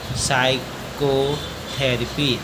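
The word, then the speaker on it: psychotherapy: अगला है पी एसवाई सी एओ टी एच ई आर ए पी वाई एस से पहले पी आया हुआ है तो प साइलेंट है इसको पढ़ेंगे साइको थेरेपी अगला है क्यू आर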